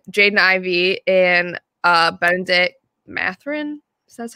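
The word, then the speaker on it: Mathurin: I was between Jaden Ivy and uh Benedict mathrin so that's how you say his name yeah Benedict mathering yeah so I ended up picking him um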